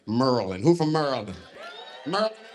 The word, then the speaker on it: Maryland: Merlin.